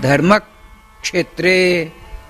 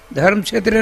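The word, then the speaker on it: धर्मक्षेत्रे: जैसे मैं बता रहा हूं, धर्मक क्षेत्रे, धर्म क्षेत्र नहीं तो अशुद्ध हो जाएगा। व्याकरण के आधार पर क्या होना चाहिए? धर्मक क्षेत्रे, कुरुक्षेत्रे। जाने दीजिए।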